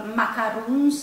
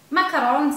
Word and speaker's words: macarons: salted caramel macaron today I'm making macarons or macaroons it depends how you want to pronunciate it macarons is probably the correct way because these biscuit are made in France so you could put